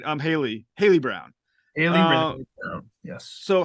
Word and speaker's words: Haley: important to talk about the colors here um Holly Brown is it am I pronouncing right um Haley Haley Brown Haley yes so how does Haley's